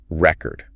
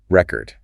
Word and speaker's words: record: So, if you stress the first syllable, record, that's the noun, right? Like a vinyl record or or keeping a record of something. I bought a new record. Exactly. The thing, but then shift that stress record. Second syllable. Now, it's the verb, the action.